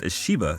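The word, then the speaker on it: シヴァ: also been speculation that shiva's name pronounced ashiba in japanese was derived from the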